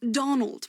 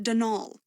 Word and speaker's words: Donal: That was the caretaker, Denol Delaney, not Donald, mind you. There's no D at the end, so it's pronounced Denol.